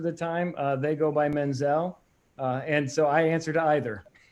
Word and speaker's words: Menzel: kudos to you sir isn't right if I call you Menzel or is it mental so as I tell this story my family pronounces the name Menzel if you talk about